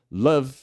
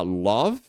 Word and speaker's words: love: é CUT por exemplo Love Esso daqui a gente tende a falar a gente tende a usar esse o e falar Love Tá mas é mais um love love Ok e above above